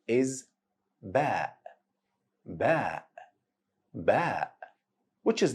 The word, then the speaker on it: Ba: Ba is pronounced exactly in the same way you pronounce letter B in English. So ba sound as letter B in the word below.